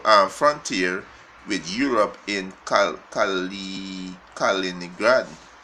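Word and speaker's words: Kaliningrad: on his full frontier with Europe in culturally Calina grad right calliní grant if you pronounce the word right right he's a in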